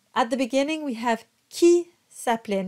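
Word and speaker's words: qui: we have Ki sapling now q-u-i is a lot like GUI you want to have that hard k sound it's a it's a whole other category but just make sure you're not going kui it's Ki KI like a k sound Geary sound so you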